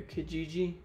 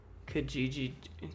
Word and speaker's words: Kijiji: Canadian website, a Kijiji? What is that? I've never even been to a Kijiji. Buy and sell and save. It looks like KSL. Utah has its own Craigslist called KSL. Kijiji.